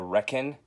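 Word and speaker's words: Requin: This is The Reckon. That is how it's pronounced.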